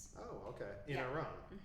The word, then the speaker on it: Iran: In Iran. Am I saying it right? Iron. Iron. Okay. It's like Italy, not Italy.